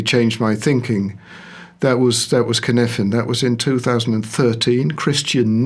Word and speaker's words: Cynefin: Cynefin, or how do you pronounce it? Cynefin.